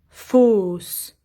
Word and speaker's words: fausse: Fausse. Ici, AU, c'est comme O.